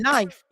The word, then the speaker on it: knife: when the word knife the K is silent and I was like